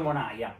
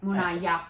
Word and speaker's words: Monaja: Diciamo, qua l'hanno sempre chiamato... signor Monaia. Monaia, con la I, quindi.